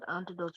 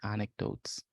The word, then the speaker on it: anecdotes: or concerns go ahead you sp antidotes wrong antidotes I'm sorry anecdotes that's the word not anot I pronounce it wrong so personal anecdotes vivid